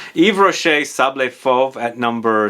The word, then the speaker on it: Yves Rocher: Moving on to a house called Yves Rocher, or Yves Rocher I should say, the S is silent. Yves Rocher Sable Fauve at number 6.